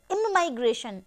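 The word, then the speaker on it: immigration: देखिए, this is pronounced as इमाइग्रेशन and this is pronounced as ई माइग्रेशन।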